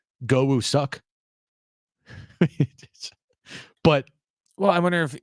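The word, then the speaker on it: Go Woo-suk: last name i i in Korea I think it's pronounced goou suck but well I wonder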